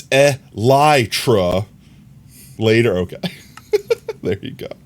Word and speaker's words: elytra: It's elytra.